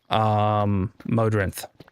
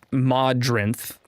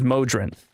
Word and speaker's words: Modrinth: But for me, when I look at the word, the way that I would pronounce that word without context is Modrinth. Because I would go Mo and then Drinth as the rest, right? Not Mod Rinth.